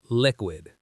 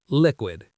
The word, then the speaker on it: liquid: Liquid. Stress on the first syllable. Liquid.